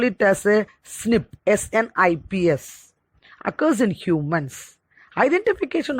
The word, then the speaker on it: SNP: dna differences that means snp single nucleotide polymorphism pronounced as we can call it as a snip snips occurs in humans identification of thick snips